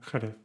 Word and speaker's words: Jerez: La J, see, the J, can also be used before A and E, like Jimenez and Jerez. The J only has one sound.